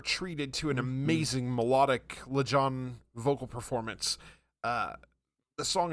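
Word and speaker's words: Lajon: I I'm make sure I'm saying it right Leon yeah Leon okay Leon wither spoon is his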